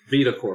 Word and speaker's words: VitaCorpo: But it would seem like VitaCorpo is how I pronounce it, right? VitaCorpo? VitaCorpo.